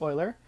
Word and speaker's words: Euler: famous math guy Google and pretty interesting stuff pronounced Euler but the e stands for Euler it's his